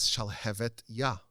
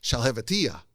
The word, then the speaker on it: Shalhevet Yah: The name of the book is Shalhevet Yah, which means the flame of God. And everyone would mispronounce it as Shalhevetiyah, which means nothing, which is just gibberish.